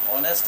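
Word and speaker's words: honest: कोई जरूरत नहीं है लेकिन साइलेंट ऑनेस्ट अगर हम लिखते हैं ऑनेस्ट तो एच का कोई जरूरत नहीं है ओ एच ओ एन एच एस टी यही ना होता है। एच का कोई मतलब नहीं है।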